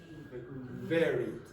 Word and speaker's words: very: Very. Very. Very. Do not close your lips ever.